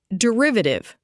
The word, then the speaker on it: derivative: Derivative, pronounced de-riv-a-tive.